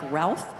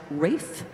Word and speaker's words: Ralph: look at in program it looks like Ralph but he liked it pronounced Rafe Vaughan Williams and he's